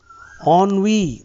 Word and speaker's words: ennui: Ennui, that is the pronunciation.